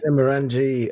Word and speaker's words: Glenmorangie: Glenmorangie.